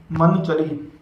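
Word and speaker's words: منچلی: अब अगला लफ्ज़ देख सकते हो आप, ये लिखा गया है मन चली।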